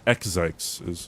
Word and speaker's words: itzCBD: That's itzCBD is how you say his name.